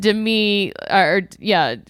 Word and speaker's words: Demi: Demi, pronounced Demi, Demi like Lovato, not Demi like more, LOL.